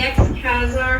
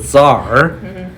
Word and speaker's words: Tsar: The ex-Khazar has been murdered. The word actually C does not pronounce. They're called Tsar.